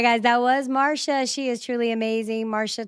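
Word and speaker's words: Marcia: And it is pronounced Marsha. It's pronounced the M A R S H A Marsha, but it's spelled M A R C I A.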